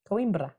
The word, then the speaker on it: Coimbra: How do you say it? Coimbra. Say roll it.